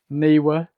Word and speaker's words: Neewer: Now, while I'm still a Godox user, it looks like Neewer are really stepping up their flash game.